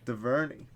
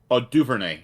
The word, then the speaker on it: Duvernay: Duverny. Yeah, Devin Duverny. Duvernay, actually, is how you say it.